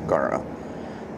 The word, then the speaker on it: Garo: Yeah, Garo. That's it, not Geno. Garo.